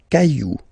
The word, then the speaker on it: cailloux: Then, un caillou, plural, des cailloux. Okay, remember, you don't pronounce it, the final X.